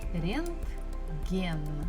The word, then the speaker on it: рентген: in Russian, it is рентген. G, G, G. Буква G looks like a English capital L, but if we flip it upside down, рентген. Also, stress falls at the final syllable, gen.